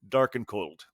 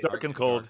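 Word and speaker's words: Darken Kold: of the beer is dark and cold spelled like as if it were a German word d a r ke n k o l d uh you can't quite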